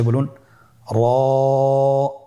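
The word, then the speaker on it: ر: র হরফটি এখানে আমরা পোর করে উচ্চারণ করব, মোটা করে উচ্চারণ করব, এবং র হরফটি এক আলিফ টেনে পড়ব। আপনারা আমার সাথে বলুন, র।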